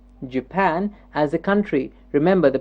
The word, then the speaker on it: Japan: while listening to me what part of the word is jumping up okay let's see I